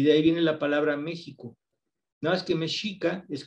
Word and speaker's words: México: se empieza con x lo digo méxico con jota y lleva x y digo examen es